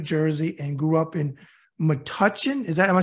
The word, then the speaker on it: Metuchen: New Brunswick New Jersey and grew up in Metuchen is that am I say right that's right